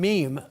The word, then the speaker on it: meme: that's um the term meme a meme is kind of to set to rhyme with Gene how many here know